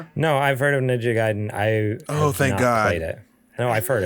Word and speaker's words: Ninja Gaiden: series, sounds like, and it gives me a pronunciation. It is Ninja Gaiden. There we go. Aha. So you were close. Ninja Gaiden, D-N, just din.